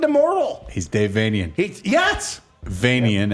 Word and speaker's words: Vanian: Vanian, as in Transylvanian.